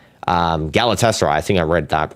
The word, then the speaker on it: Galatasaray: I don't know how to say Trabzonspor, but Fenerbahce and Galatasaray, that's how you say it. I've heard other, I've heard Turkish people say it like that.